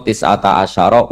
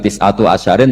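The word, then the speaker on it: تسعة عشر: Padahal itu jadi mubtada muakhar aliha iku tetep ing atase neroko tisata asyaro utawi 19. Tetap bacanya bukan tisatu asyarin tapi tisata asyar.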